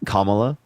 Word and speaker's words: Kamala: said you're call me Jake now because I mispronounced Kamala it's Kamala I know I'm just mustach thank you well